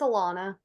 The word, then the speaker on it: Alana: Elena, is it Elena or Alana? I keep saying it and I want to say it correctly. It's Alana. Alana.